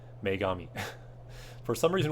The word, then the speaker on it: Megami: a bigger View shin megumi tensei totally said it wrong Megami for some reason like